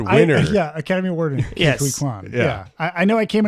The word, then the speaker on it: Ke Huy Quan: Right, I just totally butchered that, didn't it? Ke Huy Quan. How do you say that? Ke Huy Ke Huy Quan.